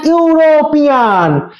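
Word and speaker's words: European: তারপর সি is dash ইউরোপিয়ান। ই এর উচ্চারণটা হচ্ছে ইউ এর মতো, তাহলে আমি কি কোনো কিছু, কোনো বাধা নেই এখানে, আর আছে ই মানে ভাওয়েল, তাহলে কি বসাবো?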